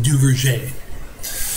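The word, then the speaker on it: Duverger: I know it's spelled Duver's, but it's actually pronounced Duvier.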